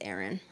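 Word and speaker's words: Aran: then I also have Iran so or Aaron weight it's Aaron I can't pronounce things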